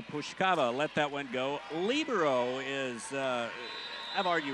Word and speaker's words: libero: term is correct but it does come from the Italian word meaning free which the Italians pronounce it libero so so we've kind of Americanized it to pronounce it labero so you'll hear it